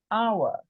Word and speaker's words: hour: and we'll hear them it is like the H in hour did you hear you couldn't hear the H I said hour but I spell it with an H or air I am